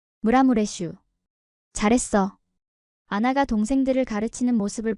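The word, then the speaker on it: Maramureș: 아나 언니, 이거 어떻게 발음해요? 6살 된 미르첼라가 물어봤어요. 이렇게 해봐. 무라무레슈. 무라무레슈.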